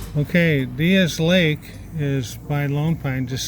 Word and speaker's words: Diaz Lake: the area and uh the lake diaz diaz lake actually is how they pronounce it ever say it